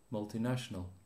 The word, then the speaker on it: multinational: you're doing multinational multinational how many syllables multinational for multi national no multi multi national no